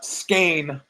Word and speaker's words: Skein: So I mean, first of all, the skein, pain, that's what Greg said. Skein rhymes with pain.